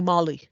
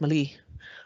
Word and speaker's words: Malie: Sometimes he calls me Molly. I don't think he realizes that my name is Malie.